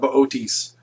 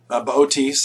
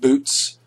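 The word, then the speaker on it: Boötes: All right, let's talk about Bootes. Bootes, again, not pronounced boots, is the herdsman.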